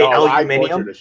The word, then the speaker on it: aluminium: So like in British, they purposely pronounce aluminum differently than us. And it's the wrong way. They say aluminium.